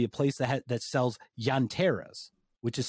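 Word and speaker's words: llanteras: there will be a place that that sells yanteras which is spelled l-l-a-n-t-e-r-a-s and that means tire in spanish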